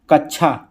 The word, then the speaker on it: कच्छा: देखिए कच्छा का शुद्ध उच्चारण क छा, ये सही हो जाएगा। ठीक है, सी वाला कच्छा सही है। क आधा फिर क सा, कच्छा, तो ये इसमें क्या पूछा जा रहा है?